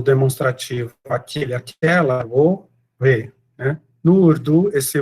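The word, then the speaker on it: वह: Embora seja escrito vah, né, ou vah, a pronúncia é vou.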